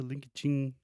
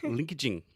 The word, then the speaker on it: LinkedIn: So the first part is when you say linked, you are just adding a T sound after the K. So linked. You're not saying linke, just linked.